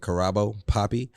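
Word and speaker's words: Karabo Poppy: out carabo poppy that's how you say it carabo poppy South African artist who collaborated with Nike for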